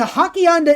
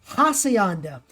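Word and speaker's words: Hacienda: in the comments and the hakianda is actually pronounced hassayanda and it gives mass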